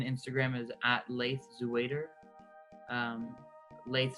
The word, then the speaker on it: Laith: Um Laith spelled like faith with an L.